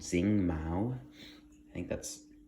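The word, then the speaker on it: Xing: And by the way, Zing is spelled with an X, and then Mao was like M-A-O, I think.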